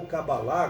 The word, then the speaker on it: Cabala: através de, por exemplo, da Cabala ou Cabalá, como alguns pronunciam. Hoje o espiritismo é muito comum entre os israelitas.